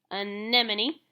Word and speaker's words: anemone: news the yellow sea anemone and there's a pronunciation guide anemone anemone looks like a pretty flower but it has